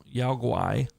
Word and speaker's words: Yaoguai: Others claimed a Yaoguai. So Guai is how you pronounce that.